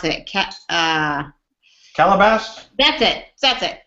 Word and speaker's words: Calabasas: How do you pronounce it? Calabasas? That's it. That's it. Calabasas.